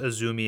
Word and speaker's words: AZM: They are a huge fan of Japanese wrestling, and they went on this rant when someone pronounced Azumi as AZM, and I was like, dude, just chill out.